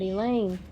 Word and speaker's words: Elain: long to know that he Lane rhymes with pain field trip breaks up soon after that mr.